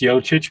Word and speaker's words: Yochic: Uh, it's it's Yochic, but I think I think you pronounce it pretty well.